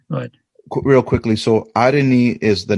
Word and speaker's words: Areni: So, Areni, that's the correct pronunciation. Areni. Yes, Areni.